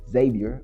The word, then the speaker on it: Xavier: Xavier, but it's spelled with an X.